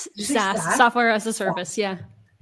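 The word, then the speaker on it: SaaS: SAS software as a service.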